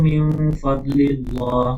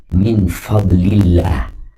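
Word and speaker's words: من فضل الله: Wabagu minadlillah. Nah, oke. Ingat kalau kasrah sebelum Allah itu bacanya muraqah ya. Min fadlillah.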